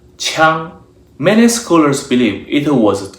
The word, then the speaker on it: 羌: This character is pronounced 枪.